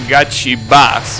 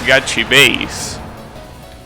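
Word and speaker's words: GachiBASS: That emote, I always pronounce it Gachi Bass, but apparently it's Gachi Base.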